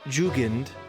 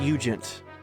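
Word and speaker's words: Jugend: Ju Jugand. And they were considered elements. Jugan is pronounced Eugent.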